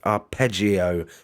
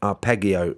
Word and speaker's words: arpeggio: that it is pronounced arpeggio with a soft g not arpeggio as i was calling